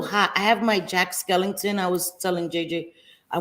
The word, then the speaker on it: Skellington: Before Christmas Skellington Skellington yes Skellington no it's Skellington I don't think so I think it's skeleton just a skeleton is it no it's Jack